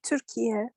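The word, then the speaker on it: Türkiye: In Turkish, we say Turkiye. Turkiye. But you changed the name, right? Yeah, right. United Turkiye, Nations accepted.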